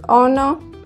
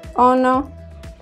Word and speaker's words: ono: It is ono, sounds like ono.